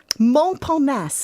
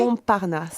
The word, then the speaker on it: Montparnasse: Now, Montparnasse, have I pronounced that correctly? Montparnasse. Montparnasse. Yes.